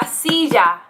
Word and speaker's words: silla: then you also have the double else which basically makes a y sound for example for example la silla and if you notice my pronunciation i kind of add a j sound but that's only because i learned a lot of spanish in latin america in um like central america and they tend to use